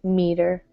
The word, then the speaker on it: meter: Might not be easy to see right away, but the first syllable is stressed, so a long E, meter.